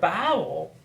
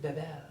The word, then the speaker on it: Babel: So the Tower of Babel, or depending on how you want to say it, Babel.